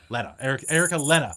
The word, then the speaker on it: Lenner: Erica Lena. That's how it's pronounced because it's a Scottish name.